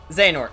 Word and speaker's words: Xehanort: The X in the weapon's name is the letter Chi from the Greek alphabet, pronounced either as Ki or K or Chi or whatever. So Who it cares? it can be pronounced as Ki.